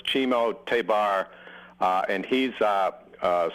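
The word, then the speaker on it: Ximo Tébar: pronounced this guy's name Zemo tabar jazz band oh uh that's chimo it's for some reason it's pronounced chimo but it's chimo tabar uh and he's a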